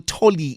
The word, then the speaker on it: Tolly: And uh uh Colonel Tolly, is that how I say the name? That is correct.